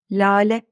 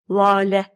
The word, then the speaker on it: lale: Lale, bakın. 2 L arasında ince okunan bir A. A şapka kullanmıyor ama ince okunuyor. Biraz önce dediğim gibi L diğer sessizlerden farklı davranıyor.